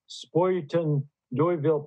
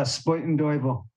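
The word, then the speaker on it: Spuyten Duyvil: works of Sharon Dubiago, Spoyton Doyville Press. Is that the way you pronounce that? I think so, yeah, Spoyton Doyville. It means spinning devil.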